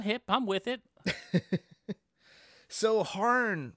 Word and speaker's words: Hârn: about horn horn and there's one of those little pointy things over the a harn I think it's still pronounced harn han han it's like the uml in Blue Oyster Cult it's not metal without